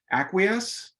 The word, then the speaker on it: acquiesce: always say it wrong, Susan, please help me, acquiesce?